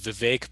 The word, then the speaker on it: Vivek: and the others uh it rhymes with cake and there's never a